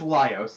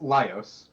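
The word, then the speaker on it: Laios: Okay, his name is Lios. Yes, Lios. And um I think you're you're getting it. You're absolutely getting it. Imagine if Lios was a girl. And then imagine if even beyond that, Lios also was way hornier.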